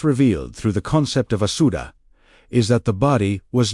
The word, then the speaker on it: Asuta: The Aramaic word he used, Asuta, pronounced "a-dash su-dash t-a-h", understood this fully.